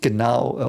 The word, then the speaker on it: Genau: But it's called Genau, or he's called Genau, and it's an AU, which is ow. Like that's the sound it makes. AU means ow.